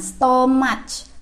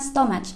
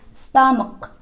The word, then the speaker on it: stomach: Contohnya, stomach. Kalau ya tulisannya stomach. Kalau dalam bahasa Indonesia bacanya stomach. But in English you have to say stomach. Stomach.